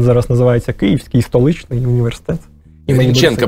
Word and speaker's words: Грінченка: Грінченка, правильно. Імені Бориса Грінченка, да, і наголос такий.